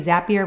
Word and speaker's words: Zapier: How about Zapier? That is like, or maybe it's Zapier. I think it's supposed to be Zapier rhymes with happier.